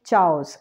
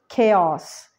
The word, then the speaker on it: chaos: of my school okay next one is chaos we do not say Chows it's chaos it means confusion or